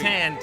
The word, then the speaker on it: Sand: Sand. He pronounced it sand.